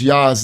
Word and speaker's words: Jah: 68 and4 which says yah's name is Jah and explained to him there was no J in ancient Hebrew so it would be pronounced yah he didn't seem to